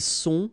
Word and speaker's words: sont: Ils sont, final T not pronounced.